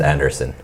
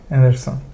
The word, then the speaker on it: Andersson: It's just Andersson. Andersson, yeah, but two S's, right?